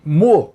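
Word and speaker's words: Meaux: na Cidade francesa de mu essa pronúncia correta o nome tá escrito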